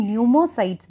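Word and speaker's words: pneumocyte: अब देखिए आपकी बॉडी में एक्चुअली ये जो सेल्स हैं इन्हें हम न्यूमोसाइट्स भी कहते हैं. पी is silent here.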